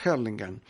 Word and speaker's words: Hurlingham: habíamos ganado Yo vi una localidad que se llama hurlingham en inglés se pronuncia hellingham y una localidad muy